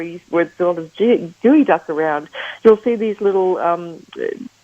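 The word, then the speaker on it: geoduck: walk anywhere where you were sort of jig gooey duck around you'll see these little siphons kind of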